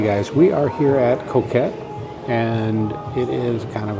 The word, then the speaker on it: Coquette: I said it right? Coquette. Coquette. I kept putting an R in there before, but so we are headed there, and we'll see.